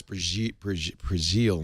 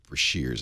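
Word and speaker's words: Breazeal: Maybe, by the way, it's Brazil, not Brashears.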